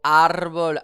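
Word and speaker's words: árbol: En effet le mot arbol a un accent déjà écrit. J'accentue donc sur la première syllabe où le AC déjà écrit.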